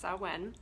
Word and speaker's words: Samhain: pronoun the pronunciation of it so it is pronounced so when and um this is a time where the